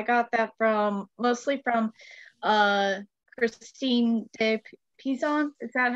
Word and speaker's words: de Pizan: So I got that mostly from Christine de Pizan. Is that how you pronounce it? Yeah, de Pizan, yeah.